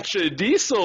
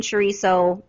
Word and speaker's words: chorizo: There is no D in chorizo. I know I'm saying it wrong also, but I can't really roll the R.